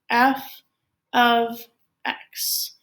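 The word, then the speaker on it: f(x): And this is pronounced as f of x.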